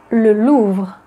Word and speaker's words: le Louvre: Number 6, le musée du Louvre, also known as le Louvre.